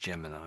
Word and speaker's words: Gemini: It's pronounced Gemini. Ah, Gemini.